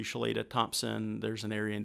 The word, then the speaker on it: Chloeta: Chloeta. It's pretty close, yeah. Very good. Real quick before we go, what's the meaning behind the name? It's Cherokee. It was after Charles U. Chloeta Thompson.